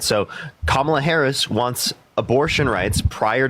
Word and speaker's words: Kamala: And it's Kamala, by the way.